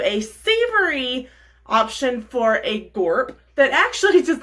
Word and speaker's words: gorp: to make something called gorp and if you don't know what girp is just wait we're going to tell you so gorp is spelled just the way it sounds g-o-r-p and it stands